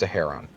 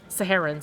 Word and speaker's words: Saharon: The fog dancers who travel with with that that city's name is pronounced Saharon. Saharin, sorry.